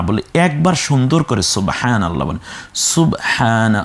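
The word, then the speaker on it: سبحان الله: বকে মনে হয় জবর দিয়ে ফেলেছে না, এটাকে সকে পেশ দাও সু আর শুধু ব, সুব।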